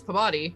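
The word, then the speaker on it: Pabodie: is it probably your peabody uh it's spelled p-a-b-o-d-i-e that's yeah that's pabotti that's um okay yeah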